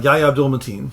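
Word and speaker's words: Yahya Abdul-Mateen: Uh Yaya Abdul Matin. Yaya Abdul Matin.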